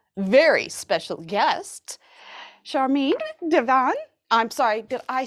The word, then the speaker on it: Divan: i do have a very special guest charming devon i'm sorry did i say your last name wrong no it's perfect divine is right a